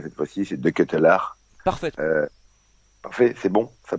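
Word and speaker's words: De Ketelaere: Alors j'espère que je vais bien le prononcer cette fois-ci, c'est De Ketelaar.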